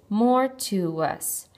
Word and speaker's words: mortuus: When we pronounce it, there are three syllables, mortuus. So clearly the U's are not working together to make one sound, so we should split between them.